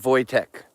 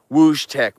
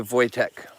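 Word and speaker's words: Wojtek: That's how they say it in Poland. Voytech. We would want to say whoosh tech, but they say Voytech.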